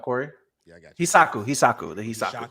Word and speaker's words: Hishaku: Hisaku. The Hisaku. Hishaku, yeah.